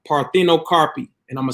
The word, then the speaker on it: parthenocarpy: Okay, so the first word I'm gonna throw out is what they would call parthenocarpy, and I'm gonna spell it. Okay, parthenocarpy is PARTHEON. Okay, CARPY, parthenocarpy, and that's a Greek word.